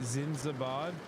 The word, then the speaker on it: Zindabad: Zindabad.